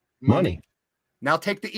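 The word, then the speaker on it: Moné: Say the word money. Money. Now take the E off and make it A. Money. She never says Monet.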